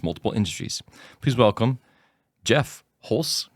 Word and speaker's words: Holst: Please welcome Jeff Hulse.